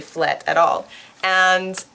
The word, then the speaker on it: flat: And they wrote out F-L-E-T. It sounds like flet in Dutch. It's not flat, as you would expect.